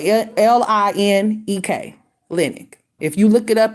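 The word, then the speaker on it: Linek: Emma linick I think it's it's uh Clinic is spelled l-i-n-e-k linick if you look it up it's all on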